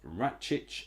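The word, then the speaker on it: Račić: be is uros rates ratc I think is how you say his name so malumi is off rattic is on again looking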